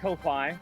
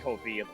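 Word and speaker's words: Ko-fi: I've just pronounced it the way it was written, so I call it Kofi. Mama, it's pronounced Kofi apparently.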